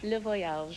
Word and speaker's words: Le Voyage: Did I pronounce it correctly? You were beautiful. Le Voyage. Le Voyage.